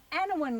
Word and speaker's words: Anaiwan: I'm from Hahndorf in South Australia, and I'm with Col on Anaiwan land.